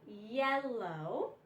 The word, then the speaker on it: yellow: When you have a double consonant, you divide between the double consonant, and if you have 1 consonant at the end of your syllable, yell, and then the vowel is short.